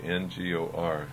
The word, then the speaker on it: Ngor: And it's probably from Ngor Monastery, N-G-O-R, pronounced Ngor, which comes from southern Tibet.